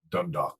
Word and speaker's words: Dundalk: Dundalk.